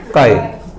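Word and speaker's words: χ: This is pronounced as काय. Pronunciation है काय.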